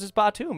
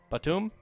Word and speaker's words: Batum: dude corrected me and said it was his bottom and then i looked it up on uh i looked it up on the youtubes and they told me bought to him that's what the pronunciation said on youtube it's but soon nobody called him that for his whole career i don't know what's